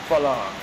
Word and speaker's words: ฝรั่ง: Farang is a Thai word actually, and it's not pronounced Farang in Thai. It's pronounced Farang.